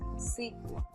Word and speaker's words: SQL: structured query language and it can also be pronounced as sequel it's widely adapted by